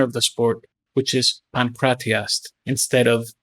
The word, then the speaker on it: pankratiast: for a practitioner of the sport, which is pankratiast instead of pancrationist.